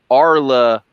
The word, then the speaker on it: Arli$$: The correct pronunciation of his name is Arla. Money sign. It's not. People think it's S's.